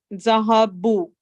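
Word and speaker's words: ذَهَبُوا: The alif after the waw is not pronounced. Zahabu.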